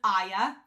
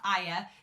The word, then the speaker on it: Aya: Stacy did say that you pronounce it Aya it's not Aya it's Aya kinda like dazai um and I was